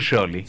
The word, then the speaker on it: Scioli: Daniel Scioli. Scioli sería Scioli. SC en italiano. Y la I no se pronuncia Scioli.